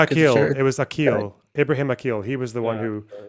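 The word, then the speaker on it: Ibrahim Aqil: continue, I need to tell Loner how to pronounce things in Arabic. It's Ibrahim Akil.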